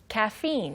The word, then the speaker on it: caffeine: 보시면 pro까지는 발음이 쉬운데 T-E-I-N이어서 뭐 tein, tine처럼 발음하고 싶겠지만 네, protein. Yes, it's protein. 이거는 Teen. 카페인하고 똑같아요. 우리가 카페인이라고 하지만 영어 발음은 Caffeine. 카페인. Caffeine. 카, Protein. 예, 카페인, 프로틴, 그 EI가 전부 긴 E 발음이 되는 형태입니다.